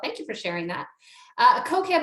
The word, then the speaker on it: Kokeb: Kokeb, over to you. Did I pronounce that correctly? And I apologize if I did not. You pronounced it perfectly.